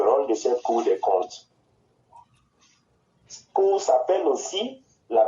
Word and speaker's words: compte: Mais laisse-moi t'instruire sur le rôle de cette cour des comptes. Cette cour s'appelle aussi la cour des comptes, qui se prononce compte, mais qui s'écrit C-O-M-P-T-E et non C-O-N-T-E.